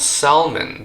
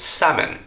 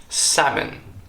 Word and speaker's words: salmon: what's inside is not salmon but salmon salmon the L here is silent just like alond the